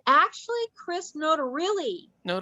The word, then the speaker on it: Notarile: Is that how you say his name? it's actually Chris Notarile. And Notarile.